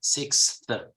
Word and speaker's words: sixth: it's kind of complicated some people say text I mean however the correct pronunciation is sixth how do you pronounce